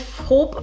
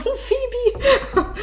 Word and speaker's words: Phoebe: Ich habe sehr oft gehört bei meinem letzten Video, der Name wird nicht Phoebe nicht Phob, wie ich das gesagt habe, ausgesprochen, sondern Phoebe. Und das haben mir so viele gesagt.